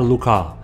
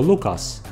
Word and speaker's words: Lucas: znamy odkrył ją Eduard Luca niektórzy wymawiają to nazwisko Lucas No ale skoro Jest Francuzem to powinno się chyba powiedzieć Luc Zresztą mnie nazwisko Lucas